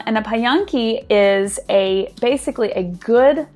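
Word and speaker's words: Pająki: this wonderful polish craft it's called a pie yong-ki and I know I'm probably saying that wrong but that's the best phonetic pronunciation that I could find and a pie on key is a basically a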